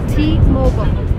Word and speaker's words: T-Mobile: either at t or t mobile so remember it's in american it's t-mobile because americans don't say mobile they say mobile so the company's name